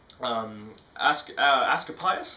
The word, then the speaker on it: Askepios: Askepios, I believe it's pronounced, Askepios.